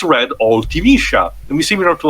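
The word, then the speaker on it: Ultimecia: the name was pronounced, the name was supposed to be pronounced Artemisia, was supposed to be essentially a Japanization of that, Artemisia.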